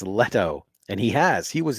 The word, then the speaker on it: Leto: doesn't help Alonso says Leno Leno dude you're question behind and you got the name wrong it's letto and he has he